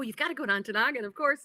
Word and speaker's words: Ontonagon: And I said, "You mean Ontonagon, Michigan?" He said, "So you must know how to pronounce it.